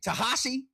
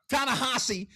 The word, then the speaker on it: Tanahashi: Tahashi. Did I say his name right? Huh? Tanahashi.